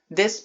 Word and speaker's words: です: Desu bir yardımcı fiildir. Oluş bildiren fiildir. Bunu aklınızda OLMAK anlamında tutmayın. DESU kelimesi, desu diye yazılıyor Fakat des olarak okunuyor. Buna da dikkat edelim. Bazen desu olarak duyabilirsiniz.